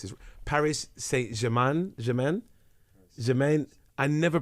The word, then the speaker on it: Saint-Germain: wearing a PSG top, which is, I never pronounce this, Paris Saint-Germain. Germain. I never pronounce Saint-Germain.